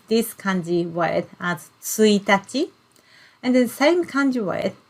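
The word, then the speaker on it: 一日: day of the month in that case we pronounce this kanji word as suitaci and the same kanji word if you use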